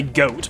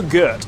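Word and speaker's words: Goht: good pronunciation from this some people say goat but then that just makes it sound like a goat and it looks like a goat and got orgoth just doesn't sound right I go for good as in the German pronunciation of the word God as in G Oh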